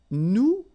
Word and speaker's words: nous: if you remember correctly, so final S is not pronounced here. Okay, and then this O-N, so it's a nasal and it goes in your nose and it goes like on. All right, so you don't hear any N, so it's really on.